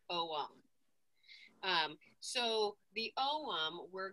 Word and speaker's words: ogham: lot of people say ogham um even you know strong british accents i found a lot of uh people who pronounce it as ogum but in irish it is actually pronounced om um so the om